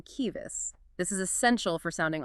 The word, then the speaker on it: civis: C and she are always pronounced as K. So if you see a word like civis, You're not saying civis, you're hearing kivis.